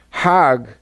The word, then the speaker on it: Hajj: Now, Hajj is a pilgrim to Mecca. Hagg is the Egyptian pronunciation.